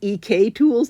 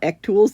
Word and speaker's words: EK Tools: And I have been told that this is EK tools, not EC tools that I've been mispronouncing it.